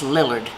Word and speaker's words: Lillard: my maiden name is Lillard which is like Willard only with a girl and I got tired